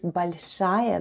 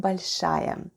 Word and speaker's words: большая: The first sound is B, then we have O, which is unstressed and is pronounced as A, then goes L, soft sign, and soft sign makes the preceding letter sound soft, so we have L, then goes Sh, a and ya.